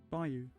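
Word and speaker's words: bayou: lake who is a bio how do you pronounce that b Bou Bou yeah Bou I was pron that correctly in southern us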